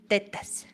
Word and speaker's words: tetas: Or you can say tetas.